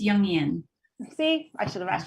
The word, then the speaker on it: Jungian: Did I pronounce that right? It's Jungian.